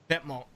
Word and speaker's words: Vetements: Vetements. That's how they pronounce it. What the heck? Yeah. It's not even how you pronounce it in French.